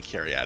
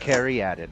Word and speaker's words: Caryatid: I say Caryatid. Oh, Yeah. carry added is how it's pronounced.